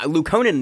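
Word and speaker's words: Luukkonen: Because Lukonen makes sense to me. It's a long U sound because there's two U's.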